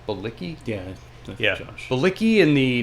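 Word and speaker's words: Bilicki: Bicki.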